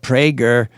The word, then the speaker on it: Prager: Right-wing radio show host Dennis Prager, pronounced Prager, said he has been actively trying to get a coronavirus infection all along.